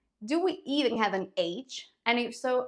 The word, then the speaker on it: Hannah: for example Hawaii hamster if your name is Hannah get ready to be called Han in Spanish how do you